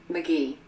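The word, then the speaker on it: McGehee: it'd be so confusing let's have a listen mcgee arkansas it is judy mcgee from arkansas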